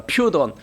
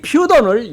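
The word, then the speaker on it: Πύθων: 이 원래는 헬라어로 퓨돈이라고 합니다. 퓨돈. 그런데 이 퓨돈을 영어로 얘기한 python인데 이것을 다른 얘기로 영어식으로 발음하면 사이펀입니다.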